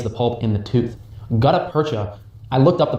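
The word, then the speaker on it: gutta-percha: Gutaperta, I looked up the pronunciation of that one, boys, is a type of plastic.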